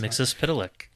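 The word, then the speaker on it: Mxyzptlk: Mix Pickle or however that name is pronounced. I think that's Mix Pitilik. Yeah. Mix Pitilik appears.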